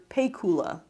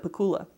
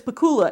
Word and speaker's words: Pakula: pay kula Archbishop Armstrong sit at like an announcement only getting the pronunciation wrong so that it ended up being pay Kula instead of Pakula it's Pakula and it's detective he said